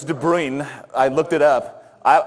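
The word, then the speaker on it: de Bruijn: person is De BR did I pronounce it wrong it's de brine I looked it up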